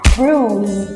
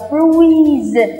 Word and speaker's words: bruise: bầm tím gọi là bruise đọc nào bruise ư Các bạn nhớ nó là âm u dài các bạn đừng đọc là bru không phải là u